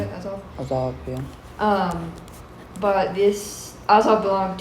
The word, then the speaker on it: Azov: Azov, yeah.